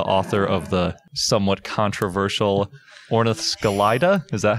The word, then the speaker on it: Ornithoscelida: So we're joined by Matt Barron, and he is the author of the somewhat controversial Ornithoscelida. Is that how you say it? Ornithoscelida, yeah.